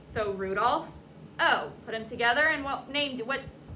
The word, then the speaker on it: Rudolfo: So we don't say Rudolph, O, no pauses. So take out the pause, and what is that? Rudolpho. There you go.